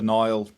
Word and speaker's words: Niall: So Nile Nia Al um not mainly mispronounced but yeah um yeah Nile on LinkedIn and accidental marketer in the tagline or whatever you call it.